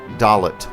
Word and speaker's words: Dollet: When last we left our heroes, they were making a dramatic landing at the town or city, I suppose, of Dalot. we've decided to pronounce it.